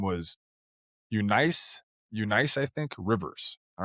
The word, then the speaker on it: Eunice: And her name was Eunice, Eunice, I think, Rivers. All right. She was a black, Eunice. huh? It's pronounced Eunice. Eunice.